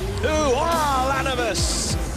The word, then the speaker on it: Ulanovas: Fires the no-look pass, and Ulanovas, the high riser, add the extra syllable. Ulanovas.